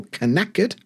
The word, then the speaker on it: knackered: I'm knackered, but spelt with a K, so knackered.